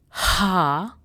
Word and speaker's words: H: H is Ha. Ha. Now the difference between A and H is when you try to pronounce H, then some air should come out of your mouth.